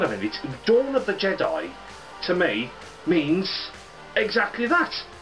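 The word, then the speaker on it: Je'daii: Not Jedi, Jedi. It's spelled J-E-D apostrophe I-I, Jedi, which I really thought was a bit weak, if I'm honest.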